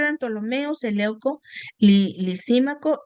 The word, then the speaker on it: Ptolomeo: los 4 solo 2, Ptolomeo y Seleuco, aunque se escribe con una P, pero pues ¿cómo vamos a decir Ptolomeo? Pues no, ¿verdad?